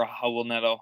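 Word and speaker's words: Raul Neto: probably lonnie walker um raul nedo i think it's pretty solid as well uh or a hubble nettle is how his name is actually pronounced in his home country um trent forest from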